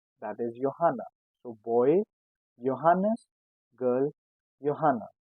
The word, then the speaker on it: Johanna: And if I talk about a girl's name, that is Johanna. So boy Johannes, girl Johanna. These two names start with J but is pronounced as Y.